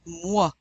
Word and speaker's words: moi: The OI is pronounced wa. Repeat after me. Moi.